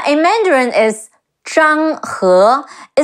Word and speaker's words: Zhang He: I know in the game he's pronounced as Zhang He. In Mandarin is Zhang He. It's like a British her with rising tone. He, he, Zhang Zhang, he, Zhang He.